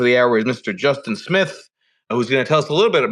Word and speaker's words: Smyth: It's kind of spelled funky without the E at the end, but I do pronounce it Smyth.